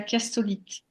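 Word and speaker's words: chiastolite: voyez oui la première c'est la castolite ça s'écrit chastolite mais imaginez que je vous dise chastolite hein bon chastolite ça passe mieux quand même pas plus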